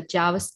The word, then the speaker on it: Jarvis: we have a special guest today Jarvis Harris Javas am I pronouncing your name correct you are pronouncing it